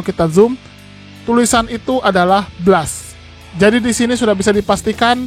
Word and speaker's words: Blast: Kenapa dipanggilnya Blast bukannya bless karena memang kata Blast ini kalau dalam bahasa Inggris di pronounciationnya adalah Blast bukan blazer jangan ada yang protes